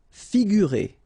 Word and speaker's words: figurer: Figurer. Okay, so here you get this G and U together without any vowel after, so you will pronounce this combination gu, sorry, figurer, figurer.